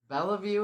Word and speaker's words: Beliveau: Um some southerners told her that no, she was pronouncing her name wrong and it's Bell. So Bella view it became and I just let my clients call me whatever they want.